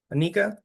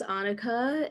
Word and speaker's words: Anika: Anika. Hello, it's actually pronounced Annika, and I'm from Herndon, Virginia, which is near the DC area.